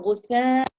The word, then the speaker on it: غثاء: So غثاء, the tha with the air coursing through your teeth.